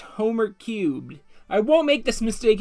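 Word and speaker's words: Homer³: hello it's jadex again here to talk about homer 3 damage shade it's homer cube not homer 3 you messed up now the simpsons fanbase is mad at you sorry guys i forgot it's pronounced homer cubed i won't make this mistake again to explain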